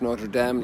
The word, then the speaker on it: Notre Dame: here's the damn pronunciations pronounced notre dame like it would be in france because it was a french foundation the famous king david